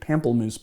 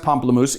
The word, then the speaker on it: Pamplemousse: I pronounced that because I looked up the pronunciation because I was calling it Pamplemousse before which I guess is a Americanized version of Pomplamoose right I don't know it is pronounced Pomplamoose it is grapefruit liqueur we're using the combi